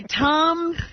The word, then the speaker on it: Thom: But I pronounce it Tom.